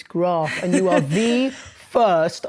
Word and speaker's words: Graf: the first person who's ever interviewed us who's pronounced our name correctly graph it's not graph it's graph and you are the first i kid you